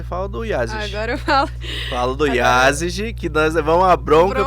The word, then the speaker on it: Yázigi: temos agora você fala do iases falo do Yázigi que nós vão uma bronca porque falava yazaki eu tenho uma leve e dificuldade inclusive preciso